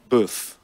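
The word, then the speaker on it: boeuf: Beef is spelled the French way, B-O-E-U-F. Oh. Boof.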